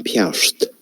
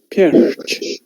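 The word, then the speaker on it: Peairt: Ha mi aan een piarst. Oh, I am in Perth. I got the pronunciation because when I first heard it, it was Perth, but in here it's Perch.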